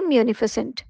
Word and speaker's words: munificent: आई सी ई एन टी और इसे हम प्रोनाउंस करते हैं मफस्य एज एन एडजेक्टिव यानी विशेषण की तरह किया